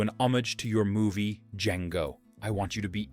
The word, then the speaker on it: Django: Fox answers, "Django. Can you spell it? D J A N G O. The D is silent."